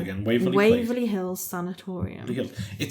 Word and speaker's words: sanatorium: So I wonder if they use that Waverly Hills Sanatorium. I'm just gonna have a quick check, but. Am I saying it wrong? Sanatorium. It's because it's an O.